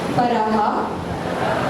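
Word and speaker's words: परः: में उत्तर देते हैं पराह सभी को विसर्ग का उच्चारण भी लेना है।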